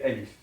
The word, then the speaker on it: Alif: beginner for Arabic, and it's pronounced this way, Alif, Alif, the name of the letter, and it's we can consider it as A in English.